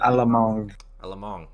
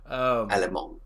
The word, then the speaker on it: Alamong: And then Alamo, I always say that name wrong. Alamong. Okay. It's not pronounced the way you think. Yep. Didn't say everybody it right. gets it. Alamong.